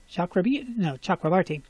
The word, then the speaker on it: Chakrabarti: This is a group that she and Chakrabarti, that's how you say his name, yeah? Chakrabarti.